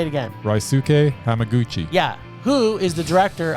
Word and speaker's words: Hamaguchi: Hamaguchi. Yeah, Ryaguchi. No, Ryuk. Say it again. Ryuk Hamaguchi.